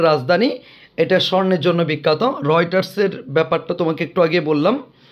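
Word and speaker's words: Reuters: এরপরে আমরা দেখতে পাচ্ছি রয়টার্স, রয়টার্স, এটা কারেক্ট স্পেলিংয়ের জন্য ইম্পর্ট্যান্ট, তোমরা পড়বা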